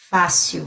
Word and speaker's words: fácil: fácil e seria Easy eu digo O Hélio está no final então eu pronuncio com o som de um fácil Tá certo então é